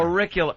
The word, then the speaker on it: auricular: Auricular. Auricular.